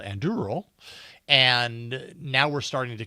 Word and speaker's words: Anduril: First I ask how to spell it. Anduril.